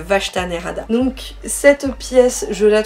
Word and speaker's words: Vashta Nerada: prononcer le vachetanerada voilà chaque fois j'ai j'ai envie de dire vach c'est le vachtanerada donc cette pièce je